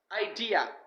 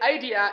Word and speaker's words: idea: last one it is idea don't say idea it should be idea the D should be stressed it is the second syllable idea means a thought